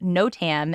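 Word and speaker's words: NOTAM: country a Computing program called I'm gonna hopefully pronounce this correctly no Tam n-o-t-a-m failed on Tuesday Morning preventing flight notices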